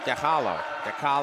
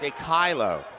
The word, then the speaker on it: DeCilo: How do I say his name? DeCalo. Close. DeCilo. My apologies.